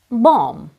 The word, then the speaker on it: bomb: with a sound but in writing after M comes the letter B this is a standard rule you just have to remember it when you read the letter B is silent if it comes after the letter M repeat after me Bom